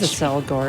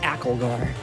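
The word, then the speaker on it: Accelgor: i guess it is a cell gore isn't it i always pronounce it as like acklar yeah cause it's accelerate yeah it makes sense it's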